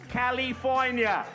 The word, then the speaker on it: California: have all been wrong it is pronounced California ladies and gentlemen the